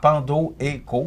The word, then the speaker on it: Pandoeco: Pandoeco, ça s'écrit P-A-N-D-O et... E-T-C-O.ca. Donc, Pandoeco, comme ça se prononce.